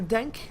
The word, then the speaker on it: Denk: playing the bane uh i'm pronouncing the dank like the french way like the qe yeah dank will be